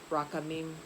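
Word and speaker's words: רחמים: And in Hebrew, that word is uh rakhamim. I hope I'm pronouncing it correctly. I know the emphasis is on the last part, rakhamim.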